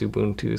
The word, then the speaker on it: Ubuntu: with ubun UB Ubuntu I always say Ubuntu but uh people keep always uh making fun of me for how I pronounce Ubuntu and I actually asked one of the Ubuntu employees at CES how to pronounce it and he said it's ubun 2o so I'm going to try to try to update that but anyway I actually pre-lash